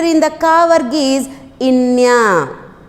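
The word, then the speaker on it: ङ: And the last letter in the ka varg is inya.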